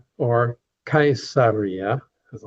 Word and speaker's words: Caesar: Now we want to go to Cesaria or Kaiseria as I like to call it named after the Caesars. And the Latin word for Caesar is actually pronounced Kaiser which is where later